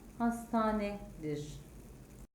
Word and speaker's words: hastahane: olan kelimenin okunuşu postane yazılışı hastahane olan kelimenin okunuşu hastanedir yazılışı bir olan kelimenin